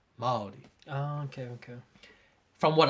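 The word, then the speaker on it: Māori: typewriter or something, then you spell it Maori because Oh. the A is extended. So it's Maori.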